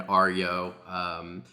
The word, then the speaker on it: Aryo: Decided I had to click record here with my friend Aryo, spelled A-R-Y-O, pronounced like Mario, he says, but Aryo, which I think is pretty cool.